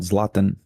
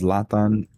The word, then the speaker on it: Zlatan: But I do think No, that other guy is uh the one that I was talking about, Zlatan.